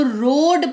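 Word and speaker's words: road: भी हुआ है तो रोड पढ़ेंगे रोड नहीं पढ़ेंगे ठीक है रोड पढ़ेंगे ए जो है आपको सुनाई ही नहीं देगा इसमें ओ ही सुनाई देगा रोड सुनाई दे रहा है ए नहीं दे रहा है ना ओ सुनाई दे रहा है क्यों क्योंकि ओ यहां पर लॉन्ग वोल जैसा एक्ट कर रहा है फिर है सूप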